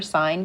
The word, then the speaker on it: sine: It is pronounced sine, not sin, because it is actually SINE.